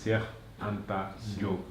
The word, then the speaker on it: Cheikh Anta Diop: We were able to just chit chat in Wolof for a little while, but that's the actual pronunciation. Cheikh Anta Diop.